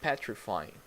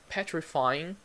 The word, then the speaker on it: petrifying: repeat that terrifying and petrifying Oh just a note you can see the G in the end you don't actually pronounce the G you don't say petrifying